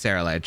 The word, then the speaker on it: Ceruledge: into the pelipper goodbye come on go uh Sarah luge don't let me down now or Sarah ledge I don't I don't know how to pronounce this thing okay halafin oh it's Sarah ledge okay Terra Blast into palafin and we go